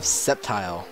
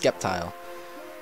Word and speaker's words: Sceptile: And for number 7 on this list, we have Sceptile, not pronounced Skeptile.